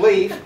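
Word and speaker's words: Leif: His son y'all get his son Leaf pronounced leaf changed his name changed his name from the red to Eric's son for credit purposes.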